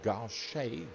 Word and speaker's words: gauche: The double gauche, G-A-U-C-H-E is the way that it's spelt.